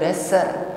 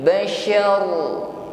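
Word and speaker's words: بَشَر: Sya, bukan basar ya, tetapi bashar.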